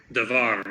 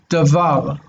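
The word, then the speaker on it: דבר: I mean, the R on the end is not really ra, but most Americans pronounce it that way anyway. Most Americans will read it davar. Even Americans who have lived in Israel for 30 years, they'll still say davar.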